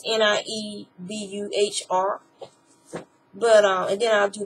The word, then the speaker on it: Niebuhr: is attributed to Reinhold, I think you say his name, Niebuhr. It's Niebuhr.